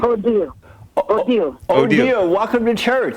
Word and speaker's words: Odile: Odile.